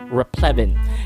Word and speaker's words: replevin: Replevin. And if you did not catch that, there is a short E sound, Evan.